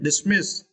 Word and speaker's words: dismiss: And for this word, you need to stress the second syllable, miss, okay, dismiss, okay.